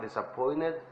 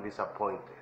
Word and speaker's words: disappointed: si dicen I am disappointed, ¿ok? Acuérdense que aquí muchas veces las palabras, las letras suenan, tienen diferente sonido. Muchas veces la T suena como R, en este caso suena como N, ¿ok?